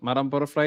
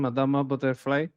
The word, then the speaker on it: Madama Butterfly: Madame butterfly. Italian pronunciation. Madama butterfly.